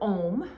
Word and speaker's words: Om: all encompassing so um the word om when we say it as we are we should be saying it broken down into three syllables a um we'll practice that in